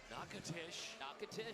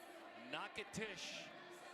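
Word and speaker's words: Natchitoches: By the way, it's actually pronounced You would never know it from it. So there's your trivia for today. Natish Louisiana.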